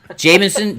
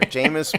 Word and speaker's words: Jameis: what Jameis what's his name Jamie Jameis Winston Jamison Jamison wins all together Jameis Winston yeah that's right that's where my head